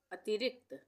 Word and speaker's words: अतिरिक्त: रुकता जागरूकता अति रिक्त अतिरिक्त अति रिक्त अतिरिक्त यहां पे भी आधे क का उच्चारण हो रहा है और त पूरा बनेगा।